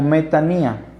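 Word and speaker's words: μετάνοια: Esta palabra arrepentimiento aparece en todo el Nuevo Testamento con un vocablo griego que se pronuncia como metanía.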